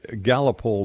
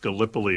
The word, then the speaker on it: Gallipoli: What was the Gallipoli disappearance that I'm reading about here?